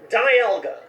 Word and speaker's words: Dialga: It's like the word dial. And since this is the legendary Pokemon of time, it's perfect. Like a time dial. Diamond for the hard mineral from the game. Dial for time. Dialga.